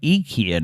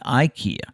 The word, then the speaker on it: IKEA: an i instead rather pronouncing the word with the e instead of an eye is the correct way to say ikea in swedish mind blown but that's